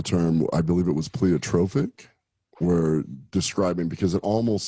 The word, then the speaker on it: pleiotropic: Pleiotropic, or is that the right?